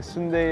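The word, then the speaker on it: 순대: some of them do spelled like an ice cream sundae but it is not pronounced like Sunday is this the same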